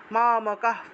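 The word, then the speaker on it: মামকাঃ: হলো স মামকা পান্ডবাস এখানে বিসর্গ যদি লাইনের মাঝখানে থাকে সেটাকে হসন্ত যুক্ত হ এর মত করে উচ্চারণ করা হয় মামকা পান্ডবাস কিম অকুর্বত সঞ্জয়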